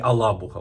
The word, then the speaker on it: Алабуга: Ну, в Ілабузі, на цій цій цій зоні Алабуга. Вона отак називається, що правильно все вимовляти.